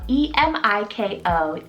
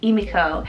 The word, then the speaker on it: Emiko: I've also heard it been pronounced as like Emiko, maybe more of an English anglicized version of it.